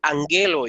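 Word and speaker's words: ἀγγέλῳ: a la siguiente expresión angelo y angelo y observen entonces aquí como se cumple la regla que gamma delante de gamma se pronuncia n entonces esta primera gama tiene el valor de no entonces decidimos angelo is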